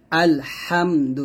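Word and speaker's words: الحمد: এখানে যে এরকম বাঁকা চিহ্ন দিচ্ছে, এর মানে হচ্ছে এখানে সাবধান থাকতে হবে যেন হা উচ্চারণ করতে গিয়ে যেন হা না হয়ে যায়। এটা হা চাপ দিয়ে বলতে হবে আল হামদু।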